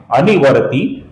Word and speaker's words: अनिवर्ती: अब यहां पर ध्यान से देखिए, सर्वप्रथम नाम है अनिवर्ती, इसमें नी ह्रस्व है और ये ती है, ये दीर्घ है।